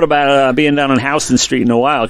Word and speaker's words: Houston Street: uh being down in Houston Street in a while because that's how they say it if you go to New York State Houston Street they know you don't know anything Houston Street and the runner-up for